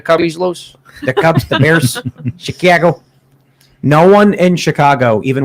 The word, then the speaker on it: Chicago: guys from the city they'll go like chicago it's chicago the yeah they'll they they do not pronounce it like chicago no it's the yeah yeah like chicken chicago a is the a sound yeah yeah to do